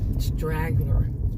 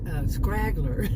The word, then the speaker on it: straggler: It's straggler. I used to call it, I didn't know how to pronounce it. Of course, everybody has a time when they don't know how to pronounce something. But, scraggler.